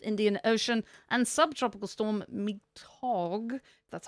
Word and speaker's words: Mitag: We have Hurricane Cristina in the eastern Pacific, Cyclone Nanauk in the North Indian Ocean, and subtropical storm Mitag, that's how that's pronounced, in the northwest Pacific.